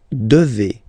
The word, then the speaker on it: devez: Okay, and then vous devez. Remember, classic ending for vous here, a Z, but then you pronounce this combination of two letters, et, devez, vous devez.